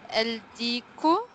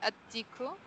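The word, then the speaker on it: الديك: El Diku, the rooster. Yes, sorry. At Diku.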